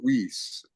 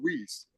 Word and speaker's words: Weis: know these supermarkets called, it's called Weiss, but it's spelled Weis S. All right. So, I call it Whis.